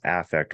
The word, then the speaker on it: affect: And when the still face, which we in our world call flat affect, it's spelled like affect, but it's pronounced affect when we're talking about the emotion that you wear on your face.